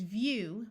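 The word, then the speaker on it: view: a different sound and this word is vew with a long u sound here's the word friend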